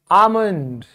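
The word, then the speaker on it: almond: कैसे ध्यान से देखो बादाम एल साइलेंट है इसीलिए आमंड बात करना टॉक टॉक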